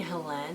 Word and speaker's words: Helene: and the Genie by Helene Wecker. I keep saying Helene because there's an E at the end. It could just be Helen Wecker, which would make pronouncing that more straightforward.